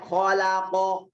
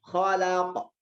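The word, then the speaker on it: خلق: Kalau dibaca khalaq itu salah. Yang benar khalaq. Ya, tetap seperti fathah tapi bukan fathah.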